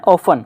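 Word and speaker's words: often: हैं हमारी क्लास में, जब भी इसका टी साइलेंट रहेगा, क्या बोलना है, ऑफन, ऑप्टन नहीं बोलना है, ऑप्टन हालांकि और जगह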